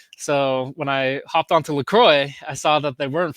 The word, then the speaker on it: LaCroix: LaCroix, yeah.